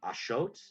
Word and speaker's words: axolotl: I know like the actual Nawat pronunciation is Ashot, I believe. Oh. Huh. Yeah, we've been pronouncing it wrong this whole time.